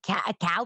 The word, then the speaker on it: cacao: It's not cocoa powder. It smells like cow powder. I don't even know how to pronounce some of these things. It's spelled CACAO powder. So instead of it's it's like cocoa powder, but a little more bitter. Like I think it's called cow powder.